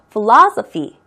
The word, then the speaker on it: philosophy: 액센트는 중간에 O 있는데 가고요. Philosophy. 그렇게 발음이 됩니다.